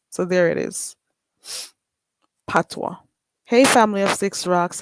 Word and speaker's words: patois: that um patois pat p-a-t-o-i-s pronounced patwa so there it is patwa hey family of six